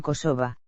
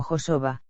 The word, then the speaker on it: Kosova: Mientras los serbios prefieren la denominación Kosovo, los albaneses utilizan Kosova, pronunciado también como Josova, palabras que, por otro lado, no tienen significado en albanés.